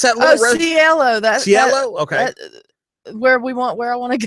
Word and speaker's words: Cielo: That's Cielo.